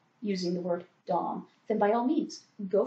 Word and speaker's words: Domme: So if you want to use Dom, use Dom. If you want to pronounce it Domme, pronounce it Domme. Just know that a lot of us sort of will give you a funny look at the very least, if that's what you're saying.